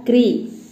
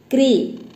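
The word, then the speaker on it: कृ: कामे री की मात्रा क्री। प्रोनाउंसिएशन इज क्री नॉट क्रू, क्रू इज in Telugu not in Hindi.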